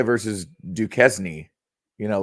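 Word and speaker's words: Duquesne: point it's Illinois versus duzn you know like it rhymes with Kenny Chesney Illinois versus I see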